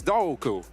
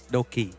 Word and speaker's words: Doki: Right now, I'm joined here by actually the Team Secrets Doku, right? Is that your name? How your name is pronounced? No, it's Doki.